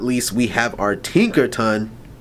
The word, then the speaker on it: Tinkaton: And then last but not least, we have our Tinker Ton. Tinkeraton. Say it. Let me say it properly.